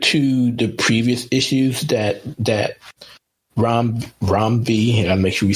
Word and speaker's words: Ram V: This issue was okay, but compared to the previous issues that Ram V, I gotta make sure we say it right. It's Ram V, not Ram V.